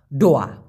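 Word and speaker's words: doa: দিচ্ছি ব্যাপারটা বুঝছেন আচ্ছা ডোয়া ডোয়া মানে হচ্ছে দোয়া আমরা বলি না ভাই আমার জন্য দোয়া কইরেন ওরা বলে ডোয়া দো না উচ্চারণ করে ড উচ্চারণ করে আর যখনই বলা হবে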